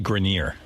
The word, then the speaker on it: Grenier: Adrian Grenier and Kevin Connolly. It's actually Grenier. Adrian Grenier.